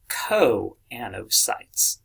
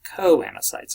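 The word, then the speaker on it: choanocytes: funny-looking name here is actually pronounced CO and O sites right Co Ana sites all Hart K not a CH sound alright so quanta sites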